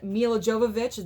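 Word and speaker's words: Milla Jovovich: And Mila Jovovich, that's how you say her name, in the Resident Evil franchise.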